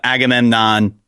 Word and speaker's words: Agamemnon: Uh Agamemnon Am I saying it right?